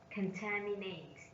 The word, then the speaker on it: contaminate: on the second syllable 10 contaminate contaminate contaminate this means pollute fruit pollute their vote contamination sorry contaminate stress on the second syllable and pollute also stress